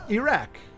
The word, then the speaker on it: Iraq: from uh from um Iraq and that is by the way how you pronounce it that's straight from somebody who lives there and uh he he has